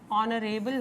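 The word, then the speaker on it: honourable: गया, ऑनर हो गया, ऑनरेबल हो गया, ऑनेस्ट हो गया या ऑनेस्टी हो गया, ठीक है। इन सब के अंदर बेटा साउंड आप देखेंगे एच कैपिटल, सॉरी एच जो है साइलेंट है।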